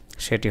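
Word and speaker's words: ثاء: তা তা তা সা, জিহ্বার আগা দাঁতের আগা লাগাবো, তাহলে উচ্চারণটা খুব নরম হবে।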